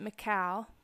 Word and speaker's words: Michal: Michael, or you could also pronounce it Michal, but I think most people pronounce it as Michael, is an unusable name.